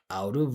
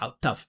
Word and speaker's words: out of: Just be able to pronounce out of out of out of out of out of musically linked right with that flap t. You hear the vibration. I'm not saying out tough tough tough out of out of.